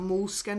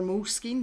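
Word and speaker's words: Moleskine: Um, so this is a a moles skin or mole skin, depending on how you want to pronounce it, uh, watercolor book and it's slightly smaller than A5.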